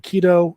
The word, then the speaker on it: Qido: And the next project that we're working on from InSim is called I Am Kido. That's spelled Qido.